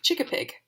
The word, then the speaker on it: Chickapig: a definition chicken Pig this is how you pronounce it chicken Pig noun chikka Pig plural noun Chicka pigs